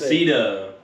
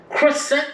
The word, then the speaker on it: Cressida: Cressida. I was close. Crescent.